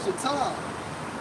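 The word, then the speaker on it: יטב: Just furthermore intel, for Trimus in Strong's H3190, pronounced as Yatai.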